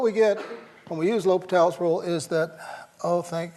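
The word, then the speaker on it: L'Hôpital: You use that famous rule that we all mispronounce when we see it written, right? We use the good old L. Hospital's rule. Okay, it's L'Hopital. L'Hopital's rule.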